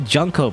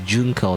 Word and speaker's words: Junko: mysterious all right junco which I always say jungko by the way but I it really is junko not jungko you know let's say